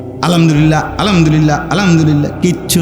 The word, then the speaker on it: আলহামদুলিল্লাহ: আল্লাহ শব্দের শেষে যে একটা গোল হা আছে ছোট এটা ক সুবহানাল্লাহ সুবহানাল্লাহ কইলে তো শুধু লামের মধ্যেই শেষ হয়ে যায় তো আল্লাহ শেষে আরেকটা হা আছে না এটা কই উঠে না